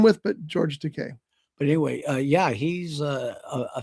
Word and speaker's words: Takei: So in the John Wayne movie, The Green Berets, George Takei was also in that, and Takei. It rhymes with decay.